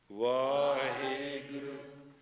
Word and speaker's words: Vaheguru: Vaheguru, Vaheguru, Vaheguru, Vaheguru, Vaheguru, Vaheguru. That's enough. That's a conversion. It's a conversion from navel point all the way up. Vaheguru. The pronunciation of the Guru mantra, Vaheguru, is a mantra of the Tresha Guru.